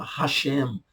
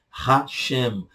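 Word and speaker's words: השם: Então você tem, por exemplo, para não falar Deus, que o judeu não pronuncia a palavra Deus, eles falam Hashem, Hashem, Ha-O, Shem, nome.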